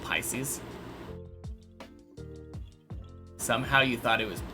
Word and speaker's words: Pisces: It's pronounced Pisces. Somehow you thought it was Piskies.